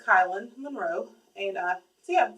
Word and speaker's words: Kylan: him kylin anyway so anyway his name is pronounced kylin Monroe and uh so yeah so that's that